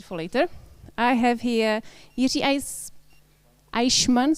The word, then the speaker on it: Jiří Eichmann: I have here Jiří Eichmann, sorry, my German is not ideal, and he represents business as a desktop engineering manager at Red Hat. Am I saying it right?